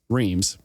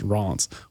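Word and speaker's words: Reims: and escort him to Reams, which apparently is pronounced Ron, but I've always heard it called Reams.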